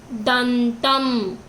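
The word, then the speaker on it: దంతం: So we have to pronounce it to the half sound. In. So dantam. In, tip of the tongue you have to say dantam.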